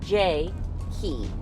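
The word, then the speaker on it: Jakee: She says, my name is Ja-Kee, however, pronounced like J-Kee.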